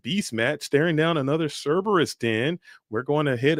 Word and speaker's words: Cerberus: I've been pronouncing it wrong. It's actually not. It's Cerberus.